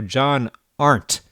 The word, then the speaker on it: John Arndt: 28-year-old Las Vegas cash game poker pro John Art is in the studio. That is the correct pronunciation, right?